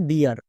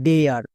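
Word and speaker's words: dear: হবে যেমন দেখো ডিআর এই শব্দটার সঠিক উচ্চারণ হবে ডিআর বাট অনেকেই উচ্চারণ করছো ডেয়ার তাই ভুল হচ্ছে কেন কারণ এখানে দেখো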